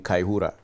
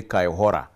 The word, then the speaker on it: Kaihura: Now, even when courts have given him that bail, now, I want to ask Kaihura, or because I have problems pronouncing Kaihura. I say Kaihora.